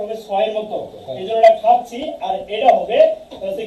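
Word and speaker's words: 같이: যে দেখেন আমি কিছুক্ষণ আগে লিখছিলাম, যেমন এটাই কি হবে খাচ্ছি, কেন বলছি যে এটা থেকে থিউদ বাচিমের পরে যদি ইয়ং বসে তাহলে থয়ের উচ্চারণ কিসের মতো হবে, থয়ের উচ্চারণ ছয়ের মতো।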